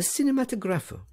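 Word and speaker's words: cinematografo: That you were seen at that very hour at the Kirkhouse, in the cinematographo. Herr Settembrini gave the word the Italian pronunciation, with the accent on the 4th syllable.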